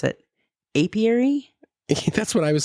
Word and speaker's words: apiary: bee farm it's like a I can't even pronounce it apiary that's what I was saying it was like